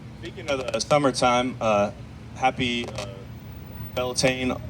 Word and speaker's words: Beltane: Speaking of the summertime, happy Beltane, like in between spring and summer. I probably butchered the pronunciation. I don't really know Gaelic or. You got it. It's good, Beltane?